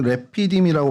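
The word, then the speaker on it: רפידים: 히브리어로 레피이라고 발음을 합니다. 저희가 루비디이라고는 하는데 정확히 발음이 레피디으로 발음을 하고요.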